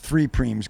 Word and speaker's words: prime: We've got this race, 3 preems going on. Excuse me, 4 preems going on. Preems. And I would like to define the discussions of the commentators, U.S. versus non-commentators. Okay. Spelled prime, pronounced preem.